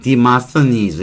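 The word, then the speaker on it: Demosthenes: 그리크 리마스테이너스 대모모스라고 하죠 근데 영어 발음은 demast demast deenes 그렇게 발음할 거예요이 고유명사라고 하는 것은 새로운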